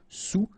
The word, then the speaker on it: sous: Nin marin alr sous ok final s not pronoun so s o u sous sous-marin utile not pronounced